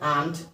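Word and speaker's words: aunt: वहीं पर आर में नॉट लगाते हैं तो हो जाता है आंट। आंट को इसका प्रोनाउंसिएशन होगा। चाची वाला जो आंट होता है वो आंट होगा।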